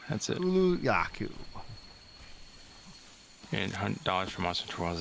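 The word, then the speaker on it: Kulu-Ya-Ku: tracking of that animal gotcha um so it's pronounced open the map and lock yaku yeah Kulu yaku that's it Kulu yaku and $100 from a TOS is steal yeah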